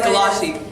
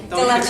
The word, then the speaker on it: Gallace: Oh, it was Gallace. Everybody does. But it's Gallace. Gallace, Italian.